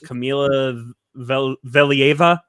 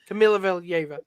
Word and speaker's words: Kamila Valieva: Nick told me how to pronounce the name. Her name is Kamila Valieva. I think is how you pronounce it. Camila Valieva.